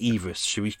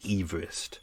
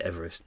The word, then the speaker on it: Everest: head i believe his the pronunciation of his name was actually everest we should actually call it mount everest not mount everest but you know we